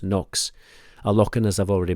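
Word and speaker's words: Cnocs: It's actually spelled C-N-O-C-S, Knox, but it's pronounced Nox.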